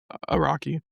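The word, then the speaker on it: Araki: Iraqi. Iraqi.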